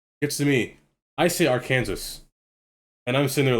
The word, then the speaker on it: Arkansas: it I say I I still think it's Arkansas because it's just R in Kansas how do you I